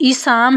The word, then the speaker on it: Isaam: अराब जो है ऐन के नीचे ज़ेर है और स्वाद के ऊपर ज़बर है। दुरुस्त लफ्ज़ जो है वो ईसाम है।